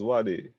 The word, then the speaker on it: Zwade: My name is Zwade. It's pronounced Zwade.